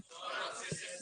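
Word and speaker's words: psorosis: सोरोसिस लेकिन P silent है इसलिए बोलो सोरोसिस सोरोसिस एक होता है जाइलोपोरोसिस जाइलोपोरोसिस तो जाइलोपोरोसिस जाइलोपोरोसिस जाइलोपोरोसिस जो है इसको हम अंग्रेजी में लिखते हैं।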